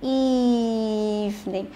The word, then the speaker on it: evening: Nhưng mà nó vẫn phải đảm bảo được là khi mà chúng ta phát âm cái từ evening này, evening, là miệng của chúng ta vẫn phải đảm